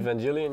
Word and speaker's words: Evangelion: We will be looking at a dazzling, how do we pronounce this again? Evangelion? Evangelion, yeah.